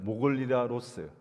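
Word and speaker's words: μογιλάλος: 모골리라로스. 모골리라로스. 제가 이 발음이 안 되고 한 100번 연습했던 것 같아요.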